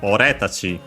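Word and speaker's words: 俺たち: So in our case here, from ore, which was an accent, we get ore tachi.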